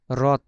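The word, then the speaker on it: рот: করেন আর ও টি এটার উচ্চারণ কিন্তু টি হবে না এটার উচ্চারণ বাংলায় ত এর মত হবে রথ রথ ঠিক আছে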